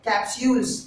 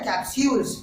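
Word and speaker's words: capsules: English में बोलते हैं कैप्सूल्स। क्या बोलते हैं? कैप्सूल्स। दोस्तों इसी वर्ड को कई लोग कैप्सूल बोलते हैं, कैप्सूल। कैप्सूल नहीं बोलना है, उसका सही उच्चारण है कैप्सूल्स।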